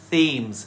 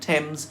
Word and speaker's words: Thames: Both Isis and Thames are derived from an older name of the river, Thamesis. Aha! There was originally no H in the name.